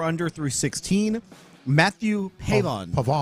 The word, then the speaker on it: Pavon: Matthew Pavon. Pavon. Say it again. Pavon. How do you pronounce the first name?